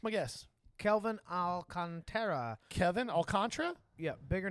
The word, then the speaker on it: Alcantara: guess Calvin Alcantara Kevin alcantra yeah bigger name bigger dude yeah hold on I did I misspell it well you didn't misspell it but it's pronounced alcantra it looks like Alcantara like Sandy Alcantara yes